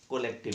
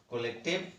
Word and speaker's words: collective: कोलेक्टिव noun, ठीक है। कोई कोलेक्टिव नाउन कहता है, कोई कलेक्टिव, लेकिन सही इसका प्रोनाउंसिएशन है कलेक्टिव नाउन। क्या? कलेक्टिव नाउन, कंठ से निकालें, कलेक्टिव नाउन, कोलेक्टिव नहीं, कलेक्टिव नाउन, ठीक है।